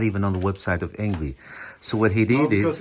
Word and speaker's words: Engwe: But thank God, and lucky for us, we have the engwe. Is that how you pronounce it, Mike?